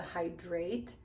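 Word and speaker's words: Hydr8: It's the Hydrate, but it's spelled like HYDR/8 Deep Moisture Repair Mask.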